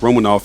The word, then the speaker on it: Romanoff: It's pronounced Romanoff in the MCU, where she was played by Scarlett Johansson, a founding Avenger and an ass-kicking mercenary spy.